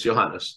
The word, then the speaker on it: Ioannis: pronounced that correctly. Yeah, just my first name's Johannes. I only go by my first name. Okay, Ioannis.